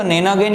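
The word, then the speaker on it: nonagon: 9 side का जो होता है उसको नेनागोन या नोनागोन, जो भी प्रोनाउंसिएशन आपके ऊपर डिपेंड करता है, मैं नेनागोन बोलता हूं, उसको चेक कर लें।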